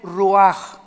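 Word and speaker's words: רוח: esta palabra espíritu es ruach así se escribe ruch se pronuncia en el hebreo la ch como jota y ex a Luisa que el ruaj muy bien el hecho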